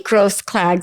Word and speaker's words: Grosklags: There's no, what about the K? It's you just don't It's say a it. silent It's a K. silent K.